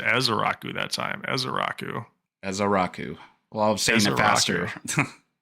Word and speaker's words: Ezeiruaku: Oh, I gotta get the pronunciation again. This one was nuts too. Donovan Ezaraku.